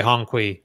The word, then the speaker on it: Hongqi: It is Hongqi.